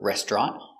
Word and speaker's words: restaurant: can pronounce it with the TR sound tur restaurant or the TR together makes the sound CH so let's do with